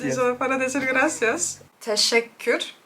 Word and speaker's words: teşekkür: Teşekkür. Teşekkür. Teşekkür. Teşekkür. That's not even close.